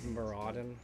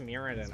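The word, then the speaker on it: Mirrodin: bitter because they killed muraden my favorite plane never really in the comments I mean it's pronounced muradin I don't care forexia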